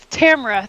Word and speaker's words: Tamara: I always say like people always get my name wrong they're like that tomorrow is it tomorrow I was like Tamara thank director Tamara behind the camera so I'm like Tamara camera but yeah so like